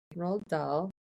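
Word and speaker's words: Roald Dahl: Let's let's find out why is it pronounced that way. Rald Doll.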